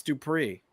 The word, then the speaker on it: Dupree: Because it's not Max Dupree, it's Max Dupree. It goes up, Byron.